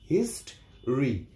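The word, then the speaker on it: history: এখানে মাঝের ভাওয়েল ও এর উচ্চারণ হবে না। হিস্ট্রি, হিস্ট্রি মানে ইতিহাস।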